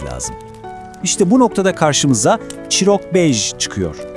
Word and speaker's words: Çîrokbêj: İşte bu noktada karşımıza Chirok Bej çıkıyor. Telaffuzu Chirok bej.